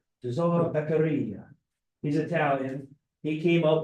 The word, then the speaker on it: Beccaria: Tesoro Beccaria.